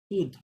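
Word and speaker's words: sud: North, সুদ, north, হ্যাঁ, এটা ডি সাইলেন্ট, এটা সুদ, এখানে ডি উচ্চারণ হবে, আর এটা এস্ট, এটা তিনটা লেটার উচ্চারণ হবে, এস্ট, হ্যাঁ, ইস্ট, এটা হচ্ছে ওয়েস্ট, ওয়েস্ট, ওয়েস্ট, এরকম।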